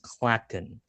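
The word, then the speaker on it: Clachan: Yes, it's pronounced Klaken. Klaken's Heart. Yes.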